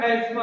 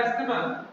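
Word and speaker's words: asthma: हालांकि इसको एस्मा बोलते हैं, लिखा है अस्थमा, सारी दुनिया में लगभग ज्यादा लोग बोलते हैं अस्थमा इंडिया में, लेकिन इसका सही प्रोनाउंसिएशन है एस्मा।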